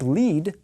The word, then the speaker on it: lead: similar kinds of sounds the verb lead uses the same vowel sound as the verb meet and if you lead